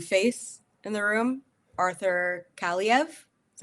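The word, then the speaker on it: Kaliyev: have a new face in the room Arthur CV is how you pronounce it y CV um thank you uh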